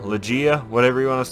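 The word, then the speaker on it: Legaia: want to say i i was a kid i was called it lagaya but i think it's pronounced legea or i've said luchi and i think it's pronounced lagai now in this game you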